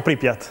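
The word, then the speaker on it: Pripyat: cittadina di pripiat pripiat correggimi Magari tu la pronuncia Perfetto pripiat pripiat Perfetto allora che era una città modernissima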